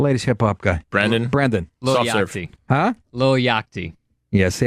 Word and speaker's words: Lil Yachty: Like the board game? Yahtzee? Low Yachty? Lil, L-I-L. Oh, Lil. Lil. Yeah. Yachty. Oh, Little Yachty.